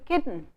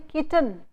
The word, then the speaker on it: kitten: So, you saying kitten, little, hidden. This here n and l themselves work as vowels. So, you do not have to add a vowel between this. Indian speakers say kitten, hidden, little. They add a vowel between t and l.